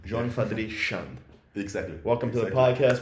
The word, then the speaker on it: Gion Chande: Yeah, you call it Gion Chande. Without the E. Gion Chande.